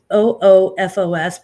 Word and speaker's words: OOFOS: It's OOFOS, but the second O is kind of weird. It's like UFOs or something.